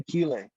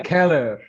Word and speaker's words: Keller: é No Porão, em Killer. Acho que está certa a pronúncia, não? Em Killer. É uma boa pronúncia em Killer. Eu acho que é em Keller, dos Em alemães. Keller.